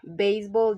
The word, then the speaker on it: baseball: Baseball, the stress is on the first part of the word because it is a compound noun.